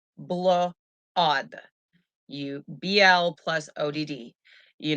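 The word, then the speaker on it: blót: not celebrate samhain they celebrated blood okay literally pronounced blue odd you bl plus odd you know it's also pronounced blout and other people pronounce it just blot okay now people they used to gather together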